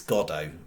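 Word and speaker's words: Godot: then go uh go it's not God is it it's godo I was half in mind last night when I was reading it and stuff because you technically would phonetically read that as God dot but yes godo as been waiting for godo there's a famous uh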